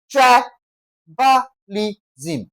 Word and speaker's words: tribalism: I gave you the rule from question one, that whenever a word ends with S M, we are always going to stress what now? The first syllable. Okay, in this case, we're having tri ba li sm.